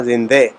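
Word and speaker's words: زنده: اردو میں زندہ بولیں گے، یہاں زندے، تو یہ تھوڑا اس میں زیر کا تلفظ جو ہے وہ تھوڑے سے آئی اور ای کے فرق کے ساتھ ذرا واضح ہو جاتا ہے.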